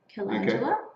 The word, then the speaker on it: calendula: So if you've just joined us, I'm talking with Katey from Raspberry Bub, who's so we've got the calendula. Okay. Is that how you pronounce it?